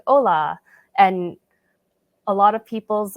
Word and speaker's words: hola: and you have like hola, and a lot of people's like default screen reader pronunciations is like in English, so they might pronounce it holla, and you wouldn't want that to happen.